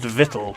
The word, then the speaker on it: victual: the hideous victual um which is i think actually pronounced vittle weirdly enough and is just a